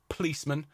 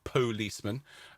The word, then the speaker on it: P'liceman: with the apostrophe there it is a policeman as in two syllables rather than a policeman um and for those